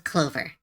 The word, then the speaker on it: Chlove: Their name is Chilove, Chlove, or Clover. Oh yeah, they call themselves Clover. Yes, they just Clover.